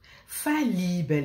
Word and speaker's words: fallibel: Fallibel, écoutez bien comment je prononce.